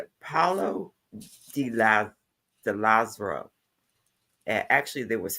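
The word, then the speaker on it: Paolo Di Lazzaro: find any information on Paul Delazzo whatsoever. Have you, NJ? Yes, he pronounced it wrong. It's pretty much Paulo de Lazaro.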